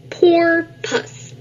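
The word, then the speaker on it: porpoise: dolphin but it's different you say it like this poor puss a dolphin's body is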